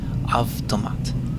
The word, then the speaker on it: автомат: And you already know all of these letters. They're all the same in English, except the B is pronounced V, автомат.